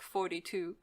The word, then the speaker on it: Thoughty2: that I enjoy very much usually the channel thought t2 which is pronounced like 42 senator 420 yeah but the guy seems really